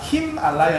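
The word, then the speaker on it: Himālaya: 요거 요즘 요즘 말로 이야기하면은 그 히말라야 있죠. 히말라야가 힘알라야 이렇게 끊어서 읽어야 돼요.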